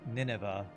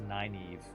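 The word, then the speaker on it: Nynaeve: Wheel of Time, which I always thought her name was Ninevea, but it was actually I think pronounced Naive, which was always a weird name to me, but that's almost exactly how it's spelled.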